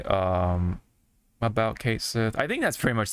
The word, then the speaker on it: Cait Sith: is saying that this is how this is Kate Sith yes it's pronounced yes it's pronounced we can take this